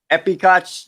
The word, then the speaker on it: Epcot: back to Epcot because I say it right epic aughts July 15 and Hollywood